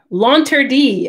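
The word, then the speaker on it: L'Interdit: circus no they not do you think she launter d i learned how to say that for the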